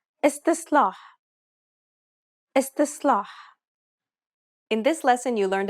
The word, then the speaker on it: استصلاح: استصلاح استصلاح. The first S is pronounced dark despite what is written. استصلاح استصلاح.